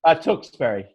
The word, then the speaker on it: Tewksbury: and it's in Tewksbury, right? Correct. We're about 20 miles north of Boston. Okay. Did I say that right? Tewksbury? Tewksbury, correct. Tewksbury.